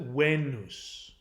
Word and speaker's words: Venus: one so the planet Venus we pronounce it Venus the Latin is pronounced it wane loose now the the last part the suffix the